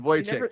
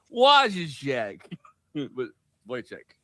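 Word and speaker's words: Wojciech: uh guy is is spelled uh wo j c i c h or c ch like is what is so so in my head I'm like wo check yeah there you go I mean that's yeah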